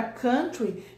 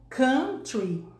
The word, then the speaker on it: country: Agora a palavra country não se escreve C-O-W de vaca, escreve C-O-N, então a pronúncia é country, né? Mas muita gente fala country, porque relaciona com cowboy, até imagina a palavra